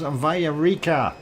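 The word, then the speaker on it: Villarrica: It is Villarica.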